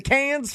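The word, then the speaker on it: Cannes: But the pronunciation is it con or can? It's been driving me nuts my whole life and I've never been there. Yeah, it's can.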